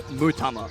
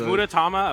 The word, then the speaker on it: Mutama: Also, it's Mutama. I added an ura syllable that wasn't there when I read it the first time. Mutama is the... Is Muratama a player?